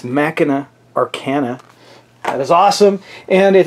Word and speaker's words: Machina Arcana: of a prototype game, which I'm going to pronounce correctly this time. It's Machina Arcana.